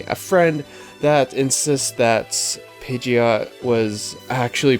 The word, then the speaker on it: Pidgeot: It is Pidgeot. My life's been a lie. I've always called it Pidgeot.